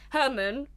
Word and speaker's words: Hermann: we'll start with Herman Hermann the German and when I was reading a load of all of these essays people kept referring to him as just German but spelled like Herman like with a double